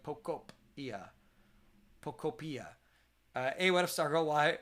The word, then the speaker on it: Pokopia: Apparently, the proper way to pronounce Pokopia is Pokopia, like cope, like Pokopia.